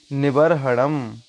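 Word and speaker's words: निवर्हणम्: निवर्हणम, यहाँ पे रा की रेप जो है वो बा के बाद आएगी और हा के पहले यहाँ पे रा की रेप है, इसलिए रा का उच्चारण आएगा।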